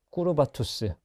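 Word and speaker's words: curvatus: 호모 인세 꾸르바투스 라고 있습니다. 뭐 꾸르바투스라고 교회에서는 있기도 하고 고전을 하시는 분은 꾸라투스라고 읽기도 합니다. 그런데 이 꾸르바투스는요, 커브, 굽었다라고 하는 영어 단어와 어원이 같아요.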